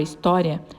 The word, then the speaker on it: história: A sílaba tônica da palavra história é o tó, e ela está na penúltima sílaba da palavra.